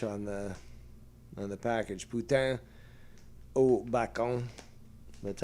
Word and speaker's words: poutine: the bacon poutine. And uh it's funny because it's also spelled in um in French on the on the package. Put oon. That's how it's pronounced.